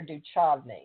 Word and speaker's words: Duchovny: How do you say it, David Duchovny or Duchovny?